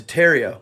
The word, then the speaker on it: Tartaria: nose the entire time tartaria originally pronounced Taria without the r is the name of